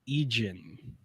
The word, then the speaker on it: Idzan: So, he's played against that is Bruno Egen. Yeah, that is how you pronounce that.